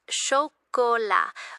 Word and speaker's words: chocolat: It's pronounced chocolat with a soft sh sound, and the last S is not pronounced.